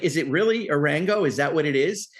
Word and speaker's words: Arango: So it's not, I thought it's not Arango. It's not Aranjo. It's Arango. We had it right, huh?